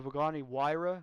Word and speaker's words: Pagani Huayra: The Pagani Huayra. That's how you pronounce it.